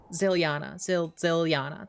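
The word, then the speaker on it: Zilyana: Ziliana.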